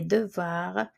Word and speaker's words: devoirs: Les devoirs, homework, the S is silent for homework.